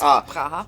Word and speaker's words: Praha: I went to a place in Prague, Praha, I believe. Praha. Praha. They sometimes pronounce it as. It's Praha.